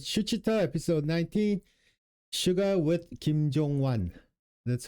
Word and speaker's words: 김종완: I'm back home with Shuchita, episode 19, Suga with Kim Jong-wan. That's how you pronounce his name.